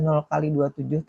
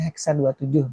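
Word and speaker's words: 0x27: Misalkan alamatnya sebenarnya itu bacanya bisa 0 kali 27, tapi sebenarnya bacanya hexa 27 gitu ya.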